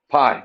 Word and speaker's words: pi: s is negtive 1 it rhymes with Guy starts with p Pi cosine of pi is